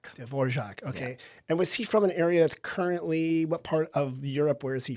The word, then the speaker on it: Antonín Dvořák: Antonín Dvořák. Dvořák.